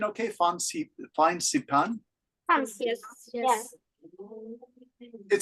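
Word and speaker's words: Fansipan: Is my pronunciation okay? Phan Saipan?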